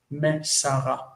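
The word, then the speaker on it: מסרה: Of course, the verb here is masar, and when you add the a for Torah, the feminine, it, then the accent shifts to the end. This is the near syllable, the distant syllable, and that reduces to shva, mesara.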